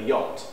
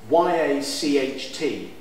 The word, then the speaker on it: yacht: Y-A-C-H-T. J, actually. Is it J? Marbella. You then have a choice. Do you call it a yacht and spell it Y-O-T in the English, how you would pronounce it?